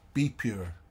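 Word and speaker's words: BPUR: NGO Be Pure International, which we like to pronounce as Be Pure, B-P-U-R, ban the political use of religion.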